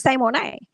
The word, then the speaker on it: Symoné: And she was like, "It's Symone."